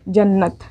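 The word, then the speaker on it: جنت: ठीक है, तो जन और नत, जन्नत। ठीक, तो इस तरह होता है, जिस भी अक्षर के ऊपर ये वाला तशदीद लगता है वो अक्षर दो बार प्रोनाउंस होता है, ये याद रखिएगा।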